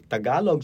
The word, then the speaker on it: Tagalog: D, for example, those So T and D sound the same. So no. So they would, for example, T, right? So when you say Tagalog, right, including the log, a Tagalog speaker will not say it like that. So say it like so they would say Tagalog. Okay. There's a very slight aspiration of the T, I see. the word initial T, but it's not as pronounced as a North American speaker would.